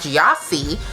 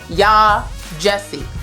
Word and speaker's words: Yaa Gyasi: strike one and then I said by yasi which was stke too so yah Jesse homegoing this is going